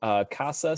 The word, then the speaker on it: CASA: Talked about John told everybody about CASAS, C-A-S-A-S, whether you pronounce the acronym or not. It's just CASA. Then the plural will be CASAs.